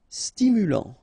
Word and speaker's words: stimulant: Stimulant, final T not pronounced, stimulant, stimulant.